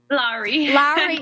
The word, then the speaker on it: Lowry: Lowry? Lowry, yeah.